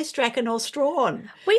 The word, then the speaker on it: Strachan: Strawn.